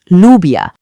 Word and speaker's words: lluvia: When you see these two L's together, they basically team up to make one sound, and that sound is the y sound, just like in the word yes.